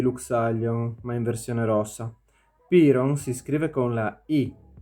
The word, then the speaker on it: Piron: Piron si scrive con la I ed è principe come suo fratello Daeron, con il quale si deve scontrare per diventare re.